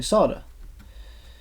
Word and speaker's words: solder: slda or soda cuz obviously there's an L in there and some people will say especially in this say sard just apply the sard